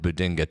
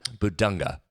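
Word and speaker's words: Bidunga: You're going to have to do that with Bedinka, too. Bedinka. Am I saying Keep saying his name wrong. I have a struggle with that one. Bedunga.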